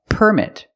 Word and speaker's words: permit: If the word is a noun, we put the stress on the first syllable, permit.